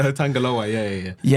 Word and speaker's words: Tangaloa: I I never I never knew how to pronounce his name. Tangaloa. Tangalo. Is it Tangalo? I thought you were joking. Tangaloa. Tangaloa.